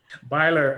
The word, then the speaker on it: Byler: Beeler is available for questions. Mr. The city has no question. Ben. Yes. You mispronounced it again. Byler, I'm sorry.